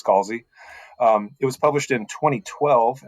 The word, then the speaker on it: Scalzi: We're going to be discussing Redshirts, which was written by John Scalzi, whatever those pronunciations they tried last time, but it's Scalzi.